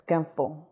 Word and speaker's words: ganfo: Okay, Semhar, am I pronouncing that correctly, first of all? Yes, it's ganfo.